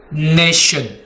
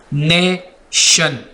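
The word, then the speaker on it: nation: ठीक है, जब TION इकट्ठे आपको नज़र आ जाए किसी भी वर्ड में तब भी आपने शाह की साउंड प्रोड्यूस करनी है। जैसे कि नेशन, नेशन, TION, नेशन।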